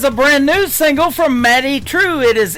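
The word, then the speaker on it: Madye Trew: That is a brand new single from Maddie True. It is M A D Y E on her first name and True is spelled T R E W. Matty True.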